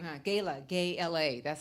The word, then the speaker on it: Gayla: Gayla. Gay-L-A. That's how you spell it.